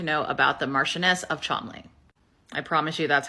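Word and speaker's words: Cholmondeley: Hanbury everything to know about the Martians of chomley I promise you that's how chamley is pronounced I I know it's it's nonsensical but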